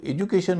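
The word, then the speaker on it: education: कहते आप ध्यान दीजिए जब एजुकेशन हम बोलते हैं तो य का उच्चारण नहीं करते क्योंकि ज की ध्वनि जोश चार में शामिल है और जोश चार में शामिल जो भी ध्वनियां है उनके बाद यु आता है तो उच्चारण उ या उ होता है तो इसलिए एजुकेशन में य की ध्वनि नहीं है एजुकेशन लेकिन जब इसको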